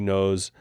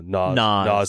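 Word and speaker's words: Noz: and Brooklyn Fair, and he worked at Sushi Nose. And like, is that how you pronounce it? I don't even know. Naz.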